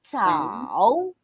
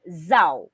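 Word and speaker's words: 早: no but it's okay remember that our first character we use the third intonation so that is chao okay now to those who weren't around last week our letter z it's not zao okay it's not zao our letter z also has this pronunciation of t s tau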